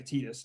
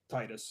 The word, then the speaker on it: Tidus: Tidus annoyed the shit out of me, and evidently it's pronounced that way, Tidus, not Titus, Should be Titus, which I but thought for all right.